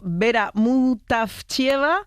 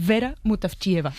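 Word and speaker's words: Вера Мутафчиева: Ayúdanos a pronunciar los autores. A ver, Georgi Gospodinov, Zdrafka Eftimova y Vera Mutavchieva. Ahora sí, ahora sí. Perfecto.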